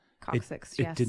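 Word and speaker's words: coccyx: it I pronounce it right? Coxix, It yes.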